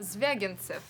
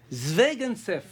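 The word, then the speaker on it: Звягинцев: Zvegantsev. Zvegantsev. Zvegantsev. Zvegantsev. Très très connu. C'est juste comme ça? Andrei Zvegantsev.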